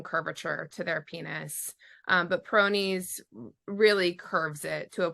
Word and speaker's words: Peyronie's: pyron's disease how do you say it peroni's Peyronie's disease so that's because of a actually a